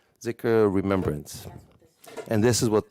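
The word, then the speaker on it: dhikr: a letter called da it's a d that has h behind it we don't really have it here so the closest is like th or z so sometimes you see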